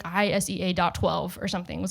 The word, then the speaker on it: Isea: So probably, yeah, it's Isea, Isea, super simple.